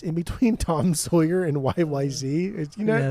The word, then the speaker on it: YYZ: when everybody finally comes it's actually not pronounced y YZ either it's YY Z apparently um stupid uh dude